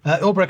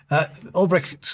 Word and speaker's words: Ulbricht: This follows the executive order releasing the Silk Road founder, Ross Ulbricht, is that how you pronounce his name? Yep. Ulbricht was convicted in 2015 of involvement in narcotics and money laundering.